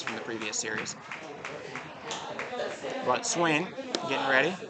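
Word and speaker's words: Swaen: But Swain, getting ready. He's got a weird way of spelling his name, S-W-A-E-N. But it's Hayden on Hayden here, spelled the same way.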